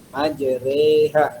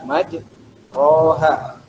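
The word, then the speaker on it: مجراها: Majreha tidak boleh dibaca majroha. Itu imalah.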